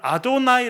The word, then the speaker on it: 아도나이: 그렇게 돼 있고요 그다음에 글자네 개가 있는데에 요거를 아도나이 아고 읽습니다 사실은요 단어의 정확한 발음은 알지 못합니다 왜냐면요네 단어가 하나님의 이름을 가르치는